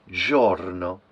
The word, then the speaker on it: giorno: the last word is Giorno so this no is pronounced when you speak short and light Giorno so although those two